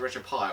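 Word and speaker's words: RetroPie: Do you pronounce it retro pie or retro pi? Retro pie. Retro pie.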